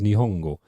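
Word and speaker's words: 日本語: The Japanese language is Nihongo.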